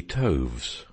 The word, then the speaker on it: toves: how to pronounce slithy toves the eye in slithy is long as in writhe and toves is pronounced so as to rhyme with groves again the first o